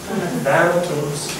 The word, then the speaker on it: Thanatos: Can you help me with the pronunciation here? Thanatos? Yeah. Try it again. Fail better. Thanatos, the god of death.